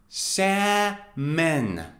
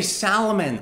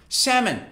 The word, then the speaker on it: salmon: a kind of fish sa men pay attention guys l is silent so you don't say salomon or solomon no it's sa men salmon salmon now let me